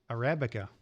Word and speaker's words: Arabica: It's Arabica. I always get this word wrong. Arabica. I said it right for once.